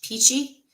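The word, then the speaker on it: pici: But they call it peach peachy and it is spelled picci.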